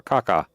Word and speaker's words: cacao: The cacao. It's actually the way you pronounce it, or caca, as my anthropologist teacher, professor told us. It's pronounced caca.